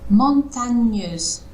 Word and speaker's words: montagneuse: Montagneuse. Alors, le Montagneux. on prononce pas du tout le N. C'est montagneuse. Montagneuse. Sans le N.